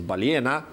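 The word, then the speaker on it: ballena: In Spanish, well, in Vicena, well, it's spelled with two L's. In some parts of Spain, it's pronounced as Baliena.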